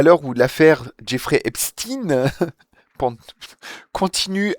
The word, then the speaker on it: Epstein: Les professionnels du petit écran sont unanimes, on dit Epstein en décomposant bien les deux syllabes. Voilà, c'est important, les amis, de décomposer bien les deux syllabes. Le stine se dit comme dans le mot français rustine, le prénom Justine, ou encore le médicament cystine.